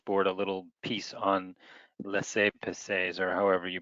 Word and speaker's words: laissez-passer: It's laissez-passer. I'll spell it for you.